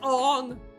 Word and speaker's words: Aang: would have showed you how to pronounce Aang's name. No, it's Ong.